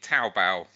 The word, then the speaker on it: Taobao: It's literally Taobao. Taobao, thank you very much.